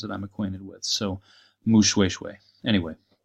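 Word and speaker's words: Moshoeshoe: so and the the the single oh is pronounced like a double o at least in southern African languages that I'm acquainted with so mu swoosh way anyway / NCA ssin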